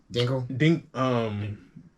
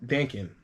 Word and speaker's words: Dankin: Dinkle, Was it the hero? Dankin. Dankin. Dankin. I just called him Dinkle because I was like Dinkleberg. Dinkleberg. You said it and it messed up my pronunciation, so I had to pause.